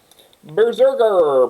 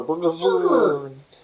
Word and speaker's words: BRZRKR: Berserker. Berserker. If you you can't pronounce that word without a vowel. Berserker. So. It's like this. They did this for SEO's sake. It's BRZRKR, and it just looks like